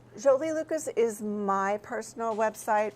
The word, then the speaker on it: Jolie: Okay, but we can get there from, and it's Jolie like Angelina Jolie with the Jolie, and pronounce it that way too, because she doesn't like That's it if you right. don't pronounce it that way. I just don't like Jolly. She's not Jolly, she's not Jolene like the Dolly Parton song, which we I were